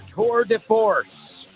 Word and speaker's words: tour de force: And hope you'll stay tuned, because my amiga Ximena Holiday is up next with her tour de force.